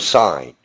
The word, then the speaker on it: sign: and you're signing and that g is silent in the word sign now if you're if